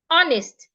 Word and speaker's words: honest: age should not be heard hold your breath honest the age should not be heard now the